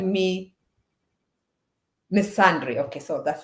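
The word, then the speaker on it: misandry: called me let me make sure I I pronounce the word Miss Andre uh called me missandry okay so that's how you say miss someone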